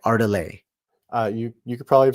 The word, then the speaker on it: Ardalis: Ardalis. Ardalis. Okay. You sure it's not like French, like Ardalet?